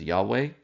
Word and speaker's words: Yahweh: the Middle East um modern Scholars have reconstructed the pronunciation of this name as Yahweh um and we do